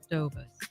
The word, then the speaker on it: DeBose: So, is it DeBose, or how do you want it? How do you say it? DeBose. I say it Dobus.